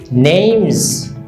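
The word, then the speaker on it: name's: এটার সংক্ষিপ্ত রপ আর উচ্চারণটা লক্ষ্য করুন নেমস নেমস তো মাই নেমস রাহাত আমরা এভাবে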